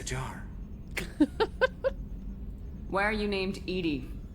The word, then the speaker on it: EDI: airline is a jar why are you named Ed Ed is the phonetic pronunciation of e that is an acronym for